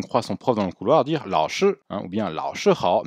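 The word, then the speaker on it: 老师: Attention, il y a un petit O. Certaines personnes n'entendent que le la. Il y a une différence entre la et lao. Et en plus, ça peut poser un problème. Donc attention de ne pas dire juste la shi, mais bien lao shi en insistant sur le A.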